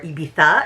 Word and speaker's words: Ibiza: It takes place on the beautiful island of Ibiza, or Ibiza, if you want to be super appropriate in Espanol with your pronunciation.